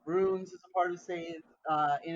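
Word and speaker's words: seiðr: Um, Save, and if you wanted to spell it, it's SEIF, which is a curved looking D with a line through it, and then the letter R. It is anglicized as SEIDHR, because that DH is sort of the sound, that the hard the sound.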